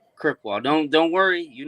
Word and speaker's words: Krzykwa: It's Krzykwa. Krzykwa. Don't worry. You're not the only one that butchered it.